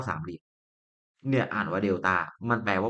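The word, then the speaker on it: delta: คือ ไอ้ เจ้า สาม เหลี่ยม เนี่ย อ่าน ว่า เดต้า มัน แปล ว่า ก็ คือ เอา มา ลบ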